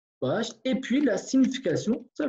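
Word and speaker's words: baş: Bosch, un mot, je vais écrire déjà en kurde, et puis la prononciation, Bosch, et puis la signification, ça veut dire bien.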